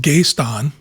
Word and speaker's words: Gaston: progress all right so first of all it's pronounced Gaston like that they have a problem with a